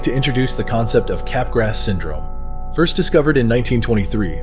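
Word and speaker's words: Capgras: introduce the concept of cap grass syndrome first discovered in 1923 by French psychiatrist Joseph capg grass if you wanted to pronounce it in French it's Joseph capgro capg grass syndrome or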